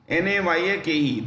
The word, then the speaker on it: Dissanayake: Dissanayake, DISSANAYAKE, Dissanayake.